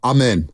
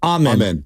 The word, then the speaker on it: Amen: you pronounce his first name Thompson oh uh amen amen and then how do you pronounce his brother's name uh he's a sir